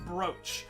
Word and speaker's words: brooch: revolver i've never understood why it's pronounced broach when the spelling is clearly brooch like that should be an a for it to be brooch brits